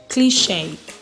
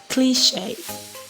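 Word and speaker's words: cliché: e at the end of a word could be a sound example i have here is resume resume because i'm sure you should know what resume is next one is cliche cliche okay so that is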